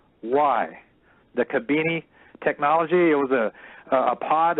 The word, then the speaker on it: Khibiny: So if anyone's taking notes, that's spelled Khibiny, the Kabini technology.